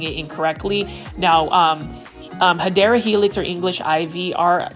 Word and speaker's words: Hedera helix: It's the Hedera Helix, or what you would call the Hedera Helix, which is the correct way to say it.